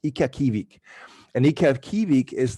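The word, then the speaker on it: ikiaqqivik: and how to pronounce it is called it's pronounced ikakivik and nikev ki week is the word for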